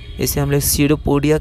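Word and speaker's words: pseudopodia: इसे हम लोग सडोपोडिया कहते हैं। या पी साइलेंट होता है।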